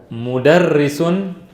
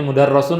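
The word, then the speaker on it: مُدَرِّسٌ: Mudarrisun apa? Guru. Nah itu ada dhammah. Itu bisa bacanya semua kan? Tahu kan ya? Iya. Bacanya mudarrasun apa mudarrisun itu? Mudarrisun. Iya. Karena apa mudarrisun? Di bawah tasdid.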